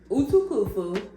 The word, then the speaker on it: Utukufu: Well, it's quite hard to pronounce. So it's Utukufu.